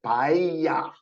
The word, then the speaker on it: paella: Paella, says Alexis, which is pronounced paella, because the L, when it's together, it's ya, paella, okay?